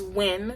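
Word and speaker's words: Nguyen: guy's last name is win so his last name is spelled the n-g-u-y-e-n but his pronouns win so his quote is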